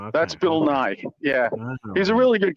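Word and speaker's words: Nighy: His his name is spelled N I G HT. Bill Nye.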